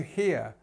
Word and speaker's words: hear: word first of all we have this ear sound um and actually depending